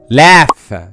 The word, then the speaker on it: laugh: لكن تعالى بقى الجي اتش في الكلمات دي بتنطق فاء like laugh, cuff, tough, rough, enough. تاني حالة ما بيتنطقش فيها